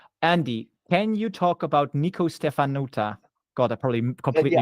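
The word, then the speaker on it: Nicu Ștefănuță: Andy, can you talk about Nico Stefanuta? God, I probably completely mispronounced. Yeah, that's Nico Stefanuta.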